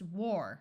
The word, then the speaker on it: war: If you have W followed by an AR, it's pronounced war, like in the word war. Ward, warm, warn, warp, swarm, wart.